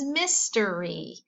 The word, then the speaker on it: mystery: This Y is in a closed syllable, so it has to say its short sound. Do you remember Y's short sound? Very good. So what does this say? Nicely done. It says mystery.